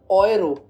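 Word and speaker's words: Euro: इसकी स्पेलिंग तो सेम होती है इंग्लिश और जर्मन में, लेकिन प्रोनाउंसिएशन अलग होती है। जर्मन में हम इसको ऑयरो कहते हैं और इंग्लिश में हम इसको यूरो कहते हैं।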